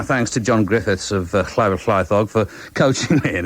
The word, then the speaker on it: Llyfr: It's double L WYBR, that's the first word, then double LAETHOG. Double LWYBR, Llyfr, and then double LAETHOG. Llaethog.